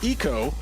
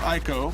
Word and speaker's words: ICO: my pronunciation on yeah it is iko ziko or aiko no it's eco sometimes i say eco and he yells at me femito ueda told me it was eco oh you made this